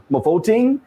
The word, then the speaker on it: Mofokeng: ambassador to Botswana, Mofokeng. Did I get it pronounced it correct?